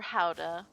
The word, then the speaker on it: Gouda: Gouda or Howda? Yeah, I've looked up the official pronunciation and used it to annoy Sunset, Stay light.